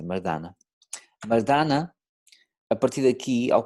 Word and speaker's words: Mardana: Chama-se Mardana, ou Mardana, Mardana, assim que a pronúncia é essa, Mardana.